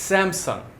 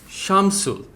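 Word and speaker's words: Samsung: And lastly, এই ব্র্যান্ডটা আমরা সবাই মনে করি যে আমরা এদের প্রোনাউন্সিয়েশনটা জানি, যাকে আমরা বলি স্যামসাং। স্যামসাংয়ের কারেক্ট প্রোনাউন্সিয়েশন হবে শামসুল, নট স্যামসাং, শামসুল।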